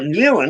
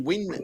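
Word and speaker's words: Nguyen: call him Nan well new the Vietnamese name yeah well that's what that was the other thing but that's pronounced win as well yeah anyway [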